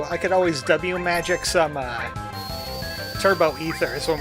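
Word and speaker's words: W-Magic: So, it's supposed to be pronounced W magic.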